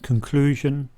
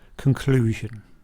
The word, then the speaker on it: conclusion: So we can write that out using the phonetic alphabet, conclusion. Let's also make a note of the stress. So it has 3 syllables, and the stress is on the second one, conclusion.